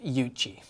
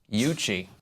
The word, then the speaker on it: Yuccie: first thoughts five words or less it's actually pronounced yuchi yuchi worst name ever mhm so hipsters just took